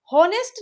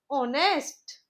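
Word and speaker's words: honest: इसे हम होनेस्ट नहीं पढ़ेंगे। जो इसमें एच है वह साइलेंट है। ओके? इसको हम पढ़ेंगे ऑनेस्ट।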